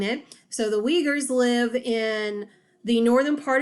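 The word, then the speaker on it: Uyghur: people called the leaguers it's spelled kind of different it's uig hur Essen definitely a different way of saying it so the we Gers live in the northern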